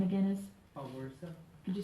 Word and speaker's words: Spowierza: Awersa. Could you spell it for me?